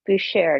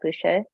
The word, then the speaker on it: Boucher: well and but and it's Boucher not Boucher Boucher who share our